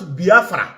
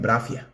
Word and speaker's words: Biafra: Collective call me pronounce Biafra correctly I will stop the agitation it is they call it Bravia I thought I studied